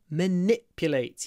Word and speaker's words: manipulate: manipulate don't let her manipulate you hold the and then the I is clipped it's stressed but clipped manipulate you manipulate not